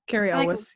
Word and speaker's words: Cary Elwes: Cary Elwes, yeah. Elwes. This is like such an unnatural sounding name. It's not a bad name. It's just not one I've said often. Cary Elwes.